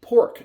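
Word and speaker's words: Porq: specifically designed for 86 and you have the pork chop and pork is spelled p o r q and obviously one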